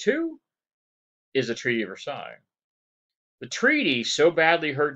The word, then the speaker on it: Versailles: The Treaty of Versailles, this is how it's pronounced, Versailles.